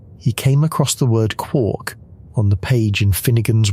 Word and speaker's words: quark: Gelman called his particles quarks.